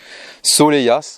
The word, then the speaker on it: Soleilhas: sympathique micro commune du soleillas soleyas ouais ça se prononce comme ça pour le test